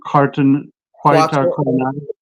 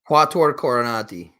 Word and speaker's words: Quattuor Coronati: How do you pronounce it? Quietar Coronati. Quattuor Coronati.